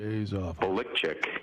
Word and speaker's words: Belichick: nfl history bill belichick no it's actually he's a lick chick if he pronounces it his family from northern